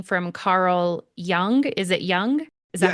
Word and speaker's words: Jung: I'm curious, but would you say that the method you're describing from Carl Jung, is it Jung? Is that how you say it? Jung.